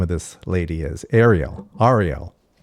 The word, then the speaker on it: Arielle: That's the only question that I allow here because I say Ariel, but then when people say to me like, "Oh, no.